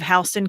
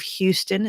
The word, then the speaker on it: Houston: We have to have our own way, just like we have Houston County instead of Houston. It's Houston.